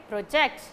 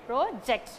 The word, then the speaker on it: project: so okay we are if we are giving stress on the first syllable then it comes under the category of noun if you are giving stress to the second syllable then it comes under the category of work okay and here also